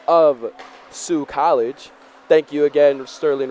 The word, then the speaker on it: Sault: Ross sterling Ross has helped me fix the pronunciation of Sioux College thank you again sterling Ross for the